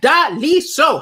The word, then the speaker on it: Daliso: They would always be like, I'm like, Daliso. How hard is that? It's three. Daliso. It's like three syllables.